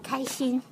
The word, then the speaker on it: 开心: Did I say it right? No, it's 开心. Kashin?